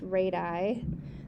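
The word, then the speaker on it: radii: be has two radiuses actually that's pronounced radi that's the plural for radius as legs so it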